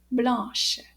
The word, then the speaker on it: blanche: end and it's pronounced blush so let's say the whole sentence together so did you hear the difference in the ending there it's got a sh H sound at the end let's try it one